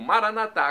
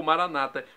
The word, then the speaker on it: Maranata: E agora eu clamo Maranatá, como dizemos nós católicos. Ou Maranata, como dizem nossos irmãos separados, os evangélicos ou protestantes. Não importa a pronúncia, o significado é o mesmo.